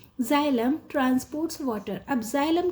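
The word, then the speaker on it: xylem: कि जलम and phellem ये बच्चों इनमें प्रोनंसिएशन भी बहुत इंपॉर्टेंट होती है क्योंकि इनकी स्पेलिंग्स अलग होती है और प्रोनंसिएशन अलग है this is जाइलम and this is phellem ये नाम है दो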